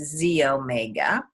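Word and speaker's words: xEO Mega: But the Z-Omega actually is spelled X-E-O, X-E-Omega, but it's pronounced Z-Omega.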